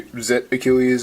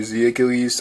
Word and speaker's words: Z Achilles: So up first is the layer, which can be pronounced either Zet Achilles or Z Achilles. I think it's been spelled both ways on like official products, so it's kind of either.